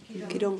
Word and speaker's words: Quirón: but since the astrologers started to find this planet Chiron or Chiron, Pero desde que los astrólogos han encontrado estos otros planetas, ¿es Quirón? how do you pronounce it? ¿Cómo lo Chiron? pronunciáis? Quirón.